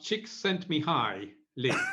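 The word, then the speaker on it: Csikszentmihalyi: gonna find this book the trick is to think of chicks sent me high lee that works so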